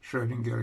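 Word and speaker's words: Schrödinger: girl was German scientist oh oh is we pronounce this like Schrodinger equation well Schrodinger equation first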